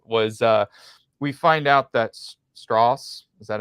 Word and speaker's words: Strauss: we find out that Strauss, is that how I said? Did I pronounce that correct? Straws. Yeah, it's like straws.